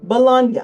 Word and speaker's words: Bologna: It comes from the city Bologna. That's an Italian pronunciation, three syllables.